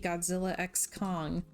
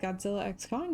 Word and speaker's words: Godzilla x Kong: we went to see Godzilla X Kong and I know that the director said the x is silent but that's dumb so